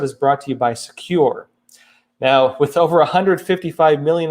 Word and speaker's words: Sekur: now a new email and messenger app called secure that's spelled s-e-k-u-r they can give privacy legitimately and